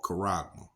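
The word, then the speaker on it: χάραγμα: All right, and it's pronounced Strong's G5480, Charagma, or Charagma.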